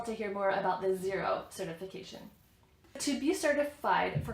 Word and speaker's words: Xero: Another very common one is Xero, spelled with an X.